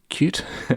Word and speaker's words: Qt: starting off with qt although it says here it's pronounced cute okay cute i'm just going to call it qt why not now qt